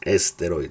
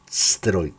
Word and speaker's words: steroid: El problema con nosotros en español decimos no es esteroid, no, es steroid, steroid.